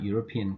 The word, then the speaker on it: European: them for example a European car a UNESCO official now the word European begins with e but e is not pronounced it is U which is pronounced UNESCO which is U